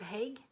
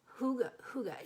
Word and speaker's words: hygge: He wrote the book of Hague. Hygge is not Hague. It's not even probably pronounced Hygge, but I can't remember exactly. But that's closer than Hague.